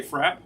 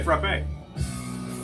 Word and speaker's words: frappe: Some people say frap. That's in New England. Some people say frappe.